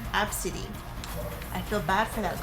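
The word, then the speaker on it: Abcde: to do that but the mom named her AB CDE e and she apparently pronounces it absidy I feel bad for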